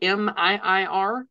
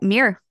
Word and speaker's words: MiiR: And Mir, believe I'm pronouncing that correctly. Miir. Yep. Mirror.